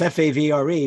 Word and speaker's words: Favre: by the way, how is Brett Favre's last name pronounced? Favre. Oh, I got it right. It's odd. It's F-A-V-R-E, but people pronounce it Favre.